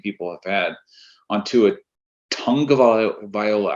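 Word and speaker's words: Tagovailoa: a tongue of Viola I never understood why it's tongue Viola when it's spelled tag of Viola yeah make sure they say tongue though it's like they're saying to a tongue of Viola like are we sure it's tongue I don't know I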